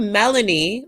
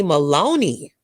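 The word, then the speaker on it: Melonie: And then people, instead of Melanie, like when people say my first name, Melanie, they call me Maloney because it's not spelled with the A. It's spelled with the O. So people will say Maloney.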